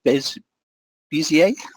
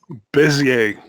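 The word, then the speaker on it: Bézier: Bezier? Bezier.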